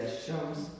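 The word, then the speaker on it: الشمس: Just you have to say Ash-Shams, Lam is not pronounced. Al-Qamar, Lam is pronounced.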